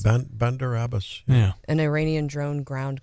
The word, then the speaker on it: Bandar Abbas: to pronounce it Bandar Abbas. Bandar Abbas.